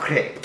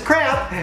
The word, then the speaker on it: crepe: That's right, we're not talking about crap, we're talking about crepe. Let me take a selfie. That's right, some people pronounce it as crap, and those people would